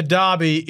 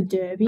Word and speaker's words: Derby: Well, first of all, Alex, it is the Derby. Oh. I hate to break it to you, but Western pronunciation, it's a bit different out here, so please stick to the preferred pronunciation, Derby.